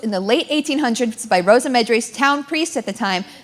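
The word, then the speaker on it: Rosymedre: Our next piece is officially called Rosa Medre. Rosa Medre. If anyone tells you it's anything else, they're wrong.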